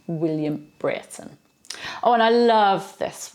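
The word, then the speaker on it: Brereton: in May 1536 William Britten now that's how it's pronounced although it's spelt VRE or eto and you'd think it was Breton but no it's a Cheshire name and it's pronounced Britain William Britain oh and I love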